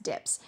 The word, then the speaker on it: DPS: The LEM dips is properly the LEM DPS, the descent propulsion system pronounced dips.